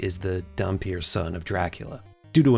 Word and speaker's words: dhampir: I can't refer to it as dunpeal. That's stupid. It's dhampir.